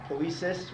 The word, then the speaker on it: poiesis: But make sure that ending, poiesis, rhymes with process, so it's a process.